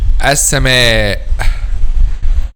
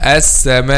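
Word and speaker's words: السماء: Okay, an example of that is the word as-sama. Okay, some students make this sound at the end a weak sound, not clarify the sound of al-hamza. Say like this: as-sama, as-sama, not as-sama.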